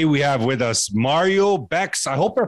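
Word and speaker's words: Békés: It's pronounced Bekes, but Bekes or Bekes. It's fine with me. Yes. Okay. Bekes. No, I love to pronounce everything. Bekes, yeah, Bekes. Yes. Bekes. It's a Hungarian surname.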